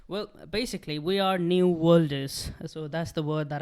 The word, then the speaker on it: worlders: So the new word that I made is worlders. W-O-R-L-D. Not welders, the worlders.